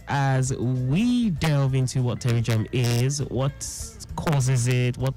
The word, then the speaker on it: pterygium: Not many people can actually pronounce pterygium correctly. Okay, got the P in front of them.